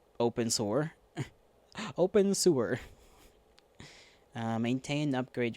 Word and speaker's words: Abensur: building in an isolated quarantine district of Abensur, pronounced open sewer.